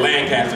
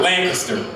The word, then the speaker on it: Lancaster: He said Lancaster, that's not how the people say it. We're going to Lancaster.